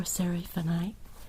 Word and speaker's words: seraphinite: Seraphinite. Like seraphim. Like the angels.